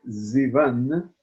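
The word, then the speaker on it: סיון: utilizando la palabra Sivan, que se escribe con S, pero la transforman con la Samach, la leen como la letra Zain, y dice que Zivan representa Ziv Penehem, significa el resplandor de los rostros.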